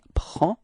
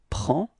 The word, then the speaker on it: prend: Okay, so same pronunciation, final D is not pronounced, so it's only the P-R-E-N, prend. Okay, repeat. Il prend.